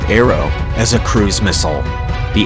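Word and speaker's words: ARRW: have misspoken and describing ARR w which is pronounced arrow as a cruise missile the AGM won 8-3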